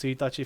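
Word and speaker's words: ついたち: But like, as Ed has put in chat, like if you say the first day of the month, it's pronounced suitachi for some goddamn reason.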